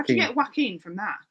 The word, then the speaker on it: Joaquin: How do you get Joaquin from that? It's Joaquin.